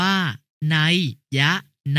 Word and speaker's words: นัยนา: ถึง อื้อ อึง วุ่นวาย นัยนา อ่าน ว่า นัยยะ นา หมาย ถึง ดวง ตา